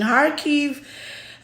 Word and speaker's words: Kharkiv: Yeah, in Kharkiv.